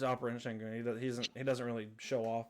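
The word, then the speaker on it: Şengün: She said, "Segan." Ooh. Segan. I said, "Spell that." Seagun. I said, Shengun.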